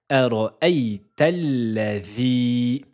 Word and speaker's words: أرأيت الذي: Et on fait une liaison, il y a un hamzatul wasal et un lam dédoublé car elle porte une shadda et une fatha. أرأيتل أرأيتل. Faites attention, vous allez prononcer deux fois la lettre lem. أرأيتل. La couleur A en grise, c'est pour signaler qu'il ne faudra pas la prononcer. أرأيت الذي أرأيت الذي. Voyelle longue de deux temps sur le i juste ici.